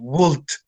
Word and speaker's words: would: So remember that in would we don't pronounce the L. No pronunciamos la L, entonces no suena el would.